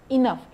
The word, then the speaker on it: enough: आणि त्याचं जे स्पेलिंग आहे ENOUGH आहे, तर GHचं प्रोनाउन्सिएशन घ न करता फ, इनफ म्हणतात, ENOUGH.